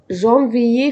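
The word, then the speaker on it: janvier: مرة كمان، جانفيي فيفريي، قلنا ايه المشترك فيهم؟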